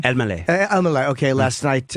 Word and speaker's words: Elmaleh: Elman? Elmaleh.